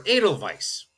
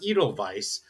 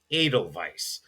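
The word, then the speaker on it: Edelweiss: Think of maybe the Austrian flower adal vise that is spelled with an e at the front. It's not eidal vice. It's adal vice.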